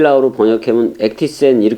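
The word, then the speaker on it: ἔκτισεν: "ktizo", "ektisen" 이라 고 발음 하는 게 맞아 요 .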